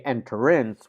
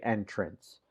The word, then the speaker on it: entrance: word of entrance so we don't say enterance we say entrance so remember the revised